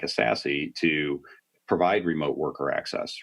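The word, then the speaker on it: SASE: the same way it's a sassy based approach s-a-s-e pronounce sassy so so Gartner got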